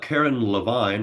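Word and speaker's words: Carin Levine: Uh, I have the one Karen Levine. I believe I remember her. That's how she pronounces her last name.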